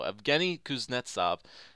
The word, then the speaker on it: Evgeny Kuznetsov: and i still can't say it right so evgeny kuznetsov a 80 overall four and a half red